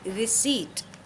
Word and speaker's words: receipt: Now this P is silent, and last is T. Generally students pronounce it wrongly, receipt, but you know the correct pronunciation, which is receipt.